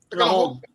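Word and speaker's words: Lajog: Lahog, L-A-J-O-G. Apparently, it's pronounced Lahog. Lahog.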